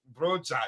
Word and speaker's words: Broja: Broya will be happy. Broja, yes, let me pronounce that correctly.